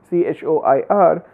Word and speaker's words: choir: towards the end, and in choir the CH is being pronounced as K is in the beginning.